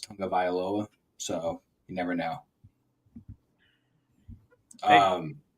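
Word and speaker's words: Tagovailoa: never would have thought tua's last name would have been pronounced Tong of vioa so you never know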